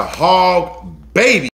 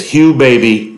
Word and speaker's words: Hugh Baby: birthday we went to hog baby look guys little disclaimer I was so excited this video I pronounced the name wrong it is called Hugh babies all right so look it's Hugh baby disregard my excitement pronouncing